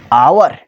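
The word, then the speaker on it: hour: हम नहीं पढ़ते थे तब हम जानते थे जे हावर पढ़ा जाता है जब भाई हम क्लियर ग्रामर में घुसने लगे तब हम समझने लगे इसे आवर पढ़ा जाता है। इसमें जो है एच चुपचाप साइलेंट रहता है।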